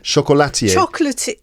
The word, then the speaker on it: chocolatier: Chocolatier.